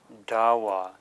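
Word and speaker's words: ཟླ་བ: so here we have zah L da W dawa when you spell a two-letter syllable you you spell out each syllable and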